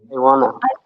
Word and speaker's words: wanna: But whenever we need to use this expression so we never say I want to. We always say I w to. What do we say? I wanna.